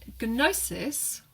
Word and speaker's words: gnosis: at the beginning, and gnosis means knowledge. It's why you've got that silent K at the beginning of know, or knowledge in English, because it came over from that G-N sound.